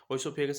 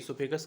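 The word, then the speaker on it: oesophagus: ओइसोफेगस actually pronounce नहीं करते हैं, इसोफेगस करते हैं।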